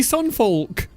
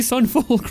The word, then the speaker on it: Sunfolk: See, he can say Sunfolk. He can say it right. He can say Sunfolk right. Emphasize the L.